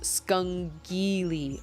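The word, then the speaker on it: scungilli: shoot i need to give that to abigail skunkily is italian sliced conch or is that spelled or is that pronounced conch it's pronounced skungili okay so i had it right i had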